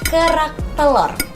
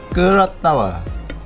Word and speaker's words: Kerak telur: Can you say it like kerak telur? Kerak tawa.